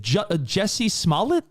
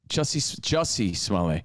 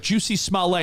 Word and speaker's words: Jussie Smollett: And by the way, I think we all say his name wrong because of Dave Chappelle. Is it Jesse Smollett? Jussie Smollett. Is it Smollett? Or I feel like Dave Chappelle was like Juicy Smollett, and we just all repeat Dave Chappelle.